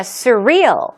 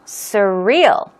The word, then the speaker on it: surreal: Now, surreal, surreal. Okay, stress goes on the real second syllable, and it means dreamlike.